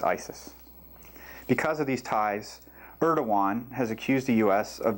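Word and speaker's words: Erdoğan: Turkish President, which is pronounced Erdogan, barely survived a coup attempt in July of 2016 and later cracked down on suspected coup conspirators by arresting 32,000 people.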